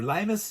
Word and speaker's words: limes: It's limes or limus. You actually pronounce it as 2 syllables.